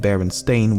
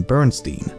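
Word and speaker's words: Berenstain: and instead called him Bernstein. Thirdly, the son of the creators has said that barely anyone pronounced it correctly when he was growing up and he was most frequently called Baronstein or Bernstein.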